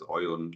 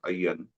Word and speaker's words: Aayan: So, of course, in Kolkata, they would pronounce it as Oyon, like you're doing. Further down south, it is sometimes becomes Ayan with a double Y. Further up north, it becomes Ayan, which is the most common thing.